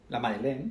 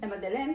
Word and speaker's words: La Madeleine: La Madeleine. La Madeleine.